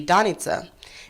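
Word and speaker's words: Danica: names my name is the real real real pronunciation would be Don Itza means the morning star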